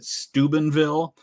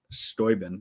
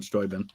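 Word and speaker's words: Steuben: pronounce it there like we pronounce it Stubenville the town in Ohio that's named after the same guy that stuben County but his his name was pronounced stoin Baron von stoin uh Corning Museum of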